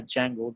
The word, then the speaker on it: Django: in Python flask and Django D is silent here guys right we just pronounced it a Django be silent right these